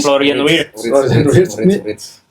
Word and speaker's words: Florian Wirtz: Bacanya apa sih, Cuk? Florian Wirtz.